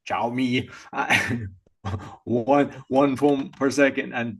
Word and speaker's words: Xiaomi: Xiaomi, how do you pronounce that one, Arnold? Xiaomi. Xiaomi.